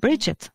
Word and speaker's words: Brigid: C'est son nom, c'est comme ça qu'on le dit, Bridget. C'est comme ça que ça se prononce. D'accord, moi je dis Brigide ou Brigitte.